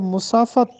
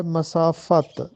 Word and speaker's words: مسافت: تلفظ بتانا ہے۔ مسافت، عام حالات میں ہم اس کو مسافت پڑھتے ہیں، جو کہ درست نہیں ہے۔ اس کا درست تلفظ ہے مسافت، میم پر زبر ہے اور فے پر بھی زبر ہے، مسافت۔ تو اس کا درست